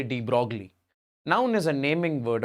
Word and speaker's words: de Broglie: I like to say de Broglie.